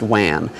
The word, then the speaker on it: WAN: dedicated telephone lines that's referred to as Wan or pronounced Wan most of the ones